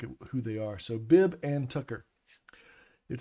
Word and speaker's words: Bib & Tucker: And if I pronounce it the way I normally do, it comes out Bib Tucker. And that people go, Bibbin? Bibben? No, it's Bib and Tucker.